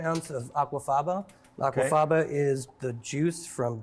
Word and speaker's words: aquafaba: Aquafaba. Aquafaba.